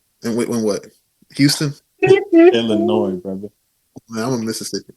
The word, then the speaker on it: Illinois: Not to correct you, brother, but you know the S is silent, right? And when what? Houston, Illinois, brother.